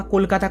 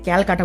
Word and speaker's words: কলকাতা: সুতরাং নিশ্চিতভাবে বলাই যায় যে কালীক্ষেত্র থেকেই কলিকাতা বা কলকাতা কথাটি এসেছে। ইংরেজরা কলকাতা উচ্চারণ করতে পারতো না বলে ক্যালকাটা বলতো।